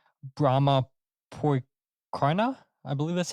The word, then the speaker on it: Brommapojkarna: let's see if I can get this right, Brommapojkarna, I believe that's how you say it, Brommapojkarna in Stockholm, in Sweden.